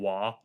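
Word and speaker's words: Waaagh: and starts a war it's called a wah okay i believe it's orcs screaming the word war but they don't pronounce ours properly so why that's the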